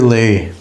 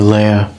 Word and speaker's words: Lea: The river Lea, or Lea, depending on how you want to pronounce it.